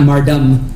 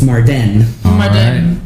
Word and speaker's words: Mardan: down ready to fight and now I know it's spelled with an E it is and with an N not not you and it's not Marv dumb it's Mardan so I am going to